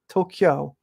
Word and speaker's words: Tokyo: people aren't gonna hear the native pronunciation they're gonna i don't know if people tokyo it's kyo there's no car tokyo so thank you lisa